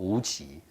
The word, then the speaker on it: Wuqi: So Wookie, this is his Chinese name. Yeah, the last name, and that's the first name, Wookie. Chinese pronunciation called Wuqi, Dong Wuqi.